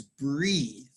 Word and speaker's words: breathe: And the pronunciation is breathe with a long E.